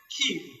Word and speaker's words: queue: One wonders what these letters are doing in the word queue, because the single letter Q could have simply done the bit of the pronunciation. But we have all of these letters in the spelling, and the pronunciation is Q, just like the letter Q.